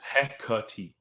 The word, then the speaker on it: Hecate: This Google lady, this Google lady is telling me that it's Hecate. If Anna says it's any other way, she is wrong too.